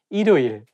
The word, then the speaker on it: 일요일: If you read it syllable by syllable, you can say 일요일, but when you say it as a one word, you have to connect it together and say 일요일.